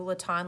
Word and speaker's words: Letendre: hard to pronounce too late' on looks like Letendre it rhymes with baton so it's not even close to what it looks like written down but how you you